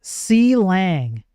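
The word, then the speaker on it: Clang: It's pronounced C Lang.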